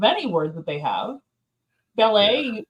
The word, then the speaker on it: ballet: word that they have ballet there's a t on the end they don't pronounce that yeah yeah silent obviously